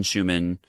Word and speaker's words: Schuman: I'm Schuman and human is quite literally in my last name. Uh, and so that it will help you remember how to spell it. Although there is a little secret C before the H.